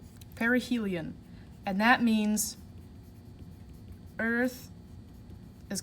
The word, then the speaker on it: perihelion: called perihelion perihelion and that is pronounced like this per e perihelion perihelion and that means earth